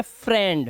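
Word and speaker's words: friend: जैसे यहां पर देखिए यह एक ऐसा वर्ड है जिसमें आई ई तो लगा है लेकिन इसका उच्चारण इ नहीं इसका उच्चारण ए हो जाता है और इसको हम पढ़ते हैं फ्रेंड तो यहां पर ए की आवाज दे रहा है ये इ की आवाज सुनाई दे रहा तो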